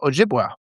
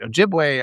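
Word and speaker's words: Ojibway: The uh Ojiua. Ojiway. I got to say it right. Ojiway.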